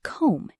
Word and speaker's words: comb: The B in the word comb is silent.